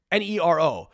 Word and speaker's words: Nero: Nero, 2 syllables. 1 letter difference.